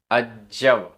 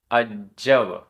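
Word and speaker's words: अज्जव: गाथा क्रमांक 132 उच्चारण अजव आधा ज पूरा ज अजव मिलेच्छ मिलेच्छ आधा छ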